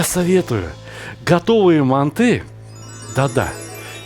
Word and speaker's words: манты: А я советую готовые манты, да-да, я произношу на узбекский манер, потому что я родился и вырос в Узбекистане. Мы говорим манты. Так вот, готовые манты, а не манты, непременно смажьте кусочком сливочного масла. Впрочем, подождите. Мои дорогие казахстанские братья и сестры, вы произносите манты с ударением на русский манер?